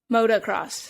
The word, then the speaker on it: motocross: I think it's just countrifying motor. It's because motive. Because each race is called a moto. Motocross. So it's motocross.